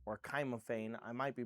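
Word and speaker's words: cymophane: Cats eye crystal barrel is also known as simophane.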